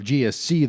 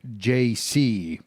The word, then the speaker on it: GSC: interviews the Ukrainian participants often mispronounce the name and instead of GSC they say JC so one day when